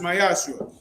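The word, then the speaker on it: מעשר: 10% um Salakia means 10th in Hebrew and is pronounced myashu 10% of every penny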